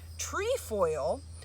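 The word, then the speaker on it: trefoil: so hence that name tree foil um because tree tre that's how it's spelled refers to three coming from the greek word tria so kind of cool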